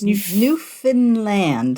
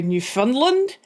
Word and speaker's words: Newfoundland: It's Newfoundland, so it rhymes with understand. Okay, because I always go Newfoundland.